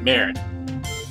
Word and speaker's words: merde: Okay, the wonderful powers of Google have informed me that it's pronounced Murd. I can't really get the whole French accent thing going, I'm really sorry, I just can't do it, but merde.